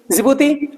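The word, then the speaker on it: Djibouti: उसके बाद में जिबूती जिबूती डी से आपका स्पेलिंग शुरू है लेकिन डी साइलेंट रहता है ये आपका जिबूती इरिट्रिया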